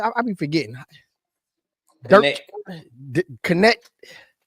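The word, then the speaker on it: Knecht: connect dton connect yeah it's like it's like the bank connect that's connetic kind of like Westside connect Sno Nick Nam them yeah like so you just you just pronounce it like connect yeah okay and um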